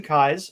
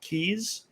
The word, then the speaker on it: Kais: challenge pronouncing my name it's like the eyes in your head with a k in front of it kai's okay i frequently pronounce it keys especially if i'm not